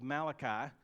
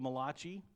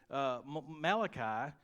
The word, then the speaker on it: Malachi: my mentor in seminary he would call it the book of mulashi the Italian prophet you know I don't think it's pronounced that way but anyway Malachi chapter 2 verse 14